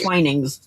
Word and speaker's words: Twinings: I would have been fine with, oh, it's pronounced twinings.